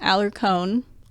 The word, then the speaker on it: Alarcon: two two eight north alarcon and um actually i found out it's aller cone okay like pine cone i've never pronounced it